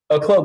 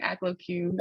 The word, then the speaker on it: Acloque: your last name again a cloak like a cloak and dagger cloak a cloak I kept pronouncing it like aclocute I've heard it all